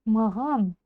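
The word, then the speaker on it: маған: и я я Маган сначала Прочитайте махан а затем более звонко Маган вот и всё СБА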